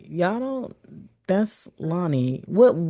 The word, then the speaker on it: Lani: like y'all don't that's Lonnie. What how do people pronounce that? If you got to put the phonetic spelling they do Lanny Laney. Like it's never just Lonnie.